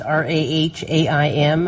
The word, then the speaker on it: Rahaim: He pronounces it Ram. It's Rahaim.